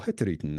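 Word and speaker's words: Hurtigruten: man Mr rovit founded hertin or Heron as you heard Lynn saying earlier pronounced more correctly uh which serves Coastal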